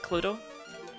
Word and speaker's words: Cluedo: Or she won't call it Cluedo over in the States. My American viewers wondering what the hell that is and why we add an extra syllable onto clue.